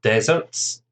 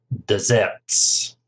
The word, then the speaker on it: desserts: I love, is it desserts or deserts? And the answer is desserts. Stresses on the second syllable, desserts.